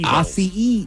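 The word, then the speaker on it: açaí: Asai.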